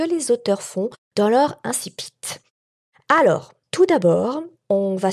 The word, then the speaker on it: incipit: ou incipit alors moi je te propose de le prononcer à la française et de dire incipit comme ça ça met tout le monde d'accord si tu as envie fiac de le prononcer sous sa forme latinistes avec l'essai qui se prononce ce que dit inti pitt et si tu veux le franciser et bien ce moment là tu peux dire insi pitt mais j'ai été très